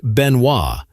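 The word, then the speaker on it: Benoit: According to the Cinjun tradition, the name Benois, which is pronounced Benois, is a tribute to his French ancestry.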